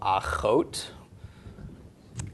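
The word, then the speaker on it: אחות: Vav with the cholam makes a long O sound. And then the t of the tav, so achot.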